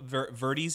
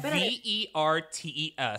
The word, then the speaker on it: Vertes: So do you know who Kendall Verdes is? I'm totally mispronouncing her last name, I'm sure.